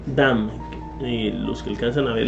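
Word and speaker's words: דם: En la palabra hebrea 1818, o sea 1818, está pronunciada dam.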